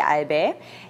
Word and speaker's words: Albae: Nein, das sind die Albäe natürlich. Richtig, es sind die Albäe.